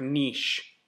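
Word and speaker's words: Nietzsche: looks into you Fred Frederick Niche I think is how you pronounce that it's very German sounds like the clock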